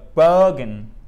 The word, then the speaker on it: bogan: So a bogan. Bogan. Bogan. Bogan. Bogan. There you go. Bogan. Bogan. Yeah. Correct. Donc c'est vraiment la grosse intonation sur la première syllabe et ça fait comme ça.